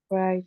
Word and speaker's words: write: Y esta letra no suena. No suena. So we just say write.